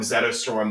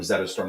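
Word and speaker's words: Zetterström: Yeah, if you say it right, it sounds like Rosetta Stone.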